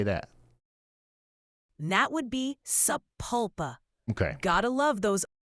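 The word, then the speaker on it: Sapulpa: how do you say that that would be saula okay got to love those all right then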